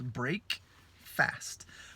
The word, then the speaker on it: breakfast: E aí vê que a pronúncia mudou também. É break, quando é separado, e fast, quando são separados. Break, fast. Porém, quando se junta numa palavra de café da manhã, né, tem um sentido diferente e, portanto, tem uma pronúncia diferente também. Que essa pronúncia é breakfast.